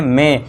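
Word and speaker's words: May: अब इसे मई मत पढ़ना है ना, ये हमारा मंथ नेम है मे, तो इसे क्या पढ़ते हैं सब, इसे मई मई बोलते हैं, लेकिन इसका करेक्ट प्रोनाउंसिएशन देखा जाए इंग्लिश के अकॉर्डिंग तो इसका प्रोनाउंसिएशन क्या होता है, राइट प्रोनाउंसिएशन इसका होता है मे।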